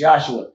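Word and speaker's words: Yeshua: believing that you know the proper pronunciation of God's son is Jesus when it's yosua Jesus is the European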